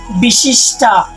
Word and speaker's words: বিশিষ্টা: এই জায়গায় একটু মনে রাখবো যে মূর্ধন্যস্বয়ের উচ্চারণ শুদ্ধ স্বয়ের মতো হবে বিশিষ্টা। যে আমরা অন্তস্থিত জয়ের পরিবর্তে আমরা জানি যে অন্তস্থিত জ সমান সমান ই অথবা ই অব্যবহৃত হয়।